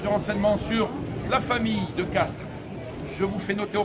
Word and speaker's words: de Castries: vous souhaitez davantage de renseignements sur la famille de caste je vous fait noter au passage que je dis de caste alors que cela s'écrit de castries car l'on ne prononce pas